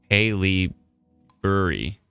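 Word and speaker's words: Haileybury: Haley Burry. Accent on the first syllable.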